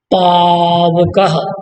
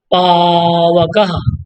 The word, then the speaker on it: पावकः: पौधन अनः पावनः, पौधन अनः पावनः, पौधन अतः, यहाँ आव हो जाएगा, औ को आव, पावकः, उच्चारण करिएगा स्लोली आराम से, पावकः, बोलिए पावकः पावकः।